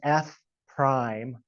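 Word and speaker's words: f′: the notation F and it looks like an apostrophe but this is pronounced F Prime of a so you see F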